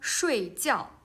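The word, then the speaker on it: 睡觉: Okay, so we can see the tones is different, but the syllable is same. They have the same initials and the same finals, right?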